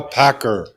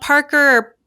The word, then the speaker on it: Packer: to pronounce no I I get a lot of Parker Packard and all sorts of random things so you did it